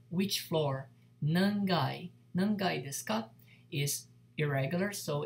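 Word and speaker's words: 階: Okay, so basically this character will be coming after a number, and depending on the number, it will be read, pronounced as kai or gai if it is an irregular.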